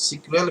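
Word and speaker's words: SQL: एल लेंगे language है तो ये बन जाएगा सीकर बस सेकुलर भी इसको प्रोनाउंस किया जाता है तो इसका फुल फॉर्म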